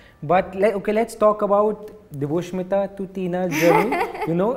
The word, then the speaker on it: Deboshmita: I'm Deboshmita. So ऐसे प्यारे प्यारे नाम होते थे. But Deboshmita to spell and to pronounce the name also half of the people would goof up.